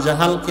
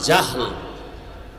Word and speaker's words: জাহাল: নাম এইমাত্র তো বললাম আবু জাহাল জেহেল না জাহাল নাম হলো ইমাম গাজালি বলে